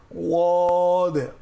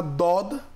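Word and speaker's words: ض: যদি দদ বলি বাংলার দ দিয়ে, তাহলে জিহ্বার আগা ব্যবহৃত হয়, এটা ব্যবহার করা যাবে না। আবার না জদ, যা জিহ্বার আগা দিয়ে উচ্চারণ হয়, অর্থাৎ জিহ্বার আগা দিয়ে হবে না, হবে জিহ্বার পাশ দিয়ে।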